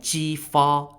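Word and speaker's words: Jifa: up in the year's 1046 BCE led by G far spelled j-i-f-a the Joel defeated the Shang at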